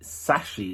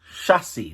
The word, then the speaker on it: chassis: just realized i've been calling it sashy instead of chassis what the heck's the matter with me man chassis that's what it's pronounced oh forgive me people